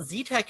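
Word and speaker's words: XeTeX: z text bands like z tech uh well z tech is pronounced like that because that's what the article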